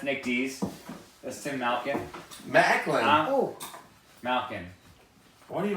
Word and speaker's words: Macklin: Macklin.